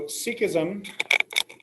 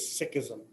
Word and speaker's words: Sikhism: all right sikhism s-i-k-h-i-s-m sikhism all right so sikhism okay first of all let me get a pronunciation for you okay the correct way to say it is sikhism sikhism a person who is who practices sikhism